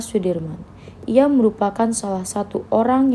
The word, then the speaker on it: Soedirman: dalam memperjuangkan kemerdekaan Indonesia Jenderal besar Soedirman menurut ejaan soewandi dibaca Sudirman Ia merupakan salah satu